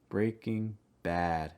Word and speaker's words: Breaking Bad: is down a breaking breaking bad and again that ass sound stress bad breaking bad breaking bad similar to